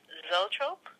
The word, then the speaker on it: Zoetrope: Um, you worked on several wine and food ventures, and then transitioned over to Coppola's film studio, American Zoetrope. Is That's that how you correct.